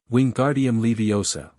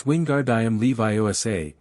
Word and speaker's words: Wingardium Leviosa: Wingardium Leviosa. Ron shouted, waving his long arms like a windmill. You're saying it wrong, Harry heard Hermione snap. It's Wingardium Leviosa, make the gar nice and long.